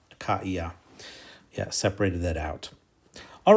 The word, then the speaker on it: Achaia: So the diaresis there makes it be pronounced Achaia. Achaia.